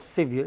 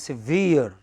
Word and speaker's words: severe: How do you pronounce it? It is not severe, it is severe.